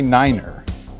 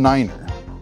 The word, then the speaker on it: Niner: speech with one exception instead of nine you say Niner all so you pronounce each digit individually so instead of saying 519 you'd say five one Niner to help you memorize